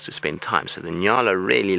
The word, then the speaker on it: nyala: how to say it if you're in America then you just need to remember New York and La n y a l a and then you say Nala so we'll do it